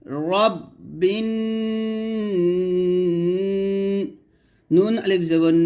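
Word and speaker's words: رَبِّ: কে ধরবে বা নুন জের বিন গুন্না হবে রব্বিন আমরা বলি রাব্বিন বলি তো এখানে দেখুন লেখা আছে রব্বিন র তো আপনারা রাব্বিন বলবেন না কুল আউজুবি রাব্বিন নুন আলিফ জবর না সিনসি আউজুবি রব্বিন যদি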